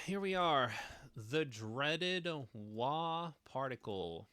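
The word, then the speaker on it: は: time all right here we are the dreaded W particle pronounced as W even though it is written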